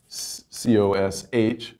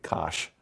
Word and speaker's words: cosh: This is usually abbreviated cinch, and hyperbolic cosine is usually abbreviated C-O-S-H, and that's pronounced phonetically, cosh.